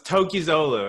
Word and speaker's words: Tokgozoglu: And then we have Tokgozoglu. Now, how do I pronounce this correctly? Tokgozoglu. Is that right? It's close. It's close. Tokgozoglu.